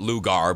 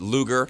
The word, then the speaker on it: Lugar: Yeah, and I keep hearing all the stuff about Lugar, and they keep pronouncing it Lugar, but Lugar.